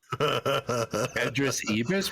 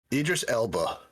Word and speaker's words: Idris Elba: Idris Ibis? What? How do you say his name? His name is what? Idris Elba.